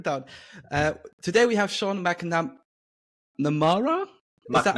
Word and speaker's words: McNamara: Today we have Sean McNamara. Is that how I pronounce it? Yes. McNamara, there we go.